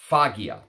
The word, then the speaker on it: Faghia: But before I go into rambling about this attar, which today, by the way, the one we're talking about, I believe it's pronounced Faghia. F-A-G. H-I-A, Faghia, F-A-G-H-I-A.